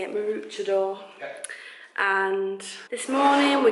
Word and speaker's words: Mooloolaba: Mooloolaba.